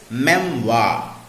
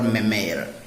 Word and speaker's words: memoir: of the word standin well the pronunciation of words ending in o i r is y so the pronunciation of m e m o i r is memwa i repeat memoir not a memoir or mimir see some other wrongly